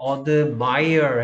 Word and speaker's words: admire: 자, admire 같은 경우에는 이 I의 발음이 좀 달라집니다. 오케이. 그래서 감탄하다라는 동사일 때는 admire 해서 I가 I 발음이 나오고 있습니다.